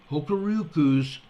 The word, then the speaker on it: Hokuriku: H-O-K-U-R-I-K-U Electric Power. Hokuriku Electric Power, I believe it's pronounced.